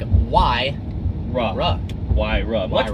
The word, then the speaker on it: Huayra: you but why don't you know it's like why rah rah why rub what are more difficult than